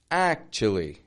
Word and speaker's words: actually: Notice how the T and U is either going to sound like a ch or a chew. Check these out here. Actually. Actually. Notice the beginning of the word strong, ch, kind of weaker, quieter, li, stretching out, actually.